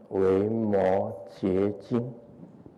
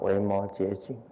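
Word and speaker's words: 维摩诘: 诘经啊，那个字啊是读作极还是读作觉？读作觉啊。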